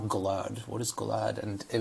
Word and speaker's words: Gilad: Like, Gilad is how you say it. And I would really just accept however way anybody said it, no matter how wrong they said it. I would say things like Glad.